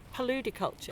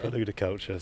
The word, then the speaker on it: paludiculture: And this has this name which I I had not come across before and I hope I'm going to pronounce it correctly. Paludiculture. Paludiculture.